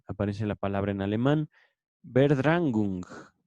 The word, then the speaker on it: Verdrängung: Aparece la palabra en alemán, Verdrängung. La estoy latinizando. Esto lo pueden escribir así como lo estoy pronunciando Verdrängung, con V y con dos puntitos arriba de la A, que esto se tradujo como esfuerzo de suplantación y desalojo.